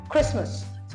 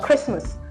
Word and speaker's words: Christmas: December 25th we celebrate Christmas so it's called Christmas Christmas the T silent we shouldn't say Christ Mass all right this a